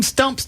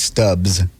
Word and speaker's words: Stubbs: Well, when you mispronounce the name of the club, it's Stubbs.